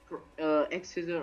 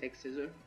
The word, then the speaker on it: X-Scissor: We were bringing the Crustle, holding the White Herb, with Sturdy, Shell Smash, Aerial Ace, Earthquake, X-Scissor or Cross-Scissor, how you say it. I think it is X-Scissor.